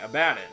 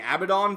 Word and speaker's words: Abaddon: King Abaddon. Longtime viewers of my channel may know that I've been saying Abaddon for the past 5 years because, let's face it, Abaddon sounds stupid.